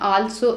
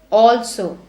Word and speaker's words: also: again it is also people say also I also did it it is not also it is also there is also a